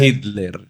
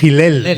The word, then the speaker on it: Hillel: pronúncialo Ay, claro, que parece que has dicho las de No Hitler. Hitler. No, Hillel. de Hillel.